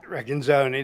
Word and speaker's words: Recanzoni: Oh, yes, Inspector Cliff, I always get his last name wrong. Reckon-zone, yeah. Recanzoni, that's it.